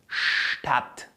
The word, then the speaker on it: Stadt: Assim, Stadt, Stadt. Então, o som do nosso ST vai passar a ser st, st.